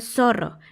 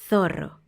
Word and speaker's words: zorro: Las personas en España la Z la pronuncian diferente a como la pronunciamos en Latinoamérica. Ellos no dicen zorro ni zapato. Ellos dicen zorro, zapato. Si te fijas, hay que poner la lengua en medio de los dientes, sacarla un poquito, pero sin que los dientes de arriba toquen tu lengua, porque hay que soplar un poco.